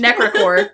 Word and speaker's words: Necrichor: Well, we can move on to the Necrichor. Yeah. I like how I read it Necrichor, but that's fine. I have been given the phonetics on this creature. Necrichor.